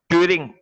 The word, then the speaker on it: Turing: बोलते हैं एक्चुअली, और नॉर्मल सेंस में हम लोग इसे क्या बोलते हैं, ट्यूनिंग मशीन बोल देते हैं। रिटर्न ट्यूरिंग, TURING, ट्यूरिंग machine होता है बेसिकली, लेकिन हम लोग प्रोनाउंस कर देते हैं ट्यूनिंग मशीन, राइट। ट्यूरिंग होता है, राइट।